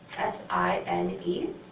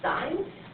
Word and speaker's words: sine: And it's actually spelled out as S-I-N-E. So we pronounce it as sine, but when we abbreviate it, we just write S-I-N. But we're still going to pronounce it as sine.